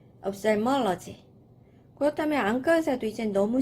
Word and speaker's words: ophthalmology: 네, 조금 발음이 어려워요. OPH 발음이 좀 어렵죠? ophthalmology. ophthalmology.